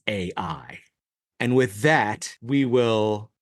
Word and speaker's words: Ai: Golem in fact fact you realize that I is not really the way you pronounce it this city is AI and with that we